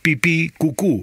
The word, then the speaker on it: pipicucu: El Facebook es pipicucu. Así nomás, pipí con acento en la segunda I. Cucú con acento en la segunda U.